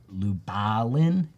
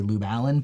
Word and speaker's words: Lubalin: So this typeface was designed to commemorate Herb Lubalin. I want to always say Lube Allen, but it's not right.